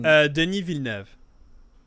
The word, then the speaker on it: Denis Villeneuve: Denis Villeneuve.